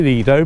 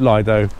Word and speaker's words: Lido: So you can call it Lido, but the English often call it Lido. Either way, they're both acceptable.